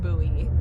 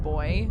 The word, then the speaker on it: buoy: Yeah, I've only ever pronounced it buoy. And for a long time, Grimoire's the only person who said that word, and he pronounced it boy. And I was like, oh, is that how everybody's gonna pronounce it in this game? That's crazy, because I've never heard someone pronounce it like boy before.